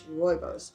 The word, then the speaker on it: Rooibos: It's Rooibos.